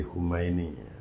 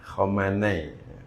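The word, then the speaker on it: Khamenei: Hayatullah Ali Khumaini. Khomanai bukan Khumaini. Kalau Khumaini itu yang mendirikan ee negara Republik Islam Iran. Kalau ini Ali Khomenei. Khomenei bacanya Ali Khomene ini ee apa?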